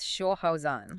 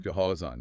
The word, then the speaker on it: 消耗: And for our beginner language learner, the pinyin for this is Xiāohào. Xiāohào, yeah. So if we break that down phonetically, the first part, Xiāohào, generally means to